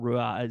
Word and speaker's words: Ruadh: there's people in Scotland that pronounce it Ruad, and there's people in Scotland that pronounce it Seor and Shore, Oh, and really? just about every other permutation.